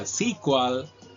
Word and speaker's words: SQL: you know uh uh SQL so uh the funny thing is uh both are right so both pronunciations are correct and commonly used in the industry so don't be confused